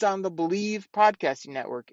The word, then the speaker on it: BLEAV: It's on the Believe Podcasting Network. It's with Lions legendary safety, Benny Blades. You got to check it out. It's called BLEAV. They pronounce that Believe in Lions on the Believe Podcasting Network.